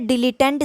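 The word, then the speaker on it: dilettante: डिलीटेंट इसका प्रोनाउंसिएशन है, that's how you pronounce this word, डिलीटेंट।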